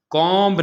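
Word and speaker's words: comb: इसी तरह कॉम्ब नहीं पढ़ेंगे बल्कि कॉम पढ़ेंगे, ये बी साइलेंट है।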